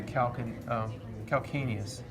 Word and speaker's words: calcaneus: and below is the calcaneus. So this one's kind of spelled weird. Some people want to say calcaneus, but it's a hard C sound. Calcaneus.